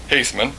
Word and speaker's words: Haithman: Haithman is how you pronounce it, and in Don Edmonds' car.